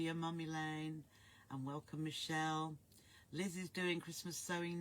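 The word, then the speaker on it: Michele: Hopefully you joined the group and your name is pronounced Michelle. Oh, right, although spelt with one L.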